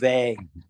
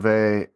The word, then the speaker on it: Weil: I just with a V, like Simone Weil is with a V rather. It's a W, but there's a V sound.